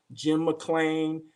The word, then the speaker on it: McLean: i know about them jim mcclain um jim mclean jim mclean jim mclean i can't i can't remember how to pronounce your name but but it's jim jim mack glean yes i said it right so um so